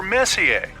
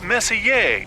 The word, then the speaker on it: Messier: Well, young lady, the M stands for Messier. Pronounced Messier, not messier, as in is your room messier than mine?